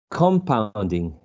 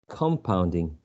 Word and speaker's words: compounding: it's a freaky pronunciation compounding compounding but i would shift the uh primary stress um i will use a schwa in the first syllable because i'm shifting the